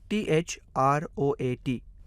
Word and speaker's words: throat: O का नाम लें, A को भूल जाएं, इसलिए इस शब्द का उच्चारण thr plus O plus t हो जाता है, जहां throat का अर्थ गर्दन होता है।